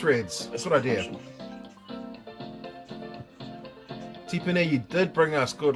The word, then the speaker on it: Tipene: These guys are one of the guys at work always calls me because that's how it's spelt, pronounced tipene.